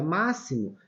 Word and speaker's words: máximo: Olha, máximo, ele tem aqui o som de S.